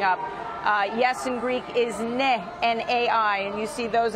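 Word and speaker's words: ναι: Yes in Greek is ne, N-A-I, and you see those in a lot of the bus stations as well.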